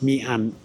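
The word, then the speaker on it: Mỹ An: That's pronounced Mi-an. Y in Vietnamese is pronounced E.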